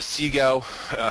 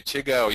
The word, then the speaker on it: CIGO: So, um, the sego is how we're currently, uh, pronouncing it. You could say chiggo, you could say whatever you want. Um, but I'm just going to say sego for the rest of this presentation or CIGO.